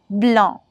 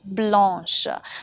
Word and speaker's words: blanc: For example, une neige blanche, that is white snow. Right? So the pronunciation also changes from blanc to blanche.